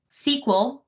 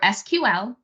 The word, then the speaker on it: SQL: SQL or SQL, either pronunciation is fine, and you'll hear people use either, stands for Structured Query Language.